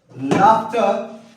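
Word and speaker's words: laughed: एक एग्जांपल है लाफ। और जब मैं इसमें इंड जोडूंगा तो इसका उच्चारण हो जाएगा लाफ्ट।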